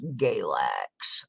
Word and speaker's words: Galax: on the list was Galax or where I live and it rhymes with Ex-Lax for a reason all right oh my